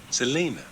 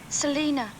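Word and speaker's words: Selina: that's a lovely name how'd you say it Selena Selena it sure does sound better sure does you like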